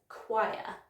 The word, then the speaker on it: choir: it does get used, it often gets used incorrectly because the spelling is so different from the phonetic spelling. So it is choir, as in he sings in a choir in church.